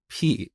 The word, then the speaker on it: pi: to teach the concept of constants but I pronounced this word as P instead of Pi and um believe it or not to this